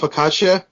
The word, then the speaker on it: focaccia: was just thinking like if you think of Focaccia you know ccia gives it the the CH sound so I figured yeah